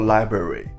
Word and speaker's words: LBRY: all, what is LBRY LBRY pronounced library The official definition of